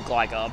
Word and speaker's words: Gligar: I used to call it Gligar, but now that I know it's a pun on Glide, it's kind of like Bonsly.